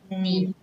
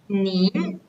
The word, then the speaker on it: 年: The original pronunciation of the word 年, the word year, we pronounce as 年, the fourth tone, but we always use the word 年, the second tone, when we express the years.